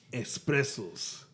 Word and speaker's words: espresso: Homie Espressos. I think I said it wrong again, didn't I? Espresso. Espressos without the X.